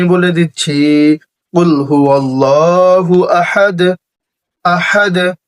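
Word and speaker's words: أحد: কুল হুয়াল্লাহু আহাদ, আহাদ, হা একটু চাপ দিবেন, হলকের মধ্যখান মানে গলার মধ্যখান থেকে উচ্চারণ করবেন।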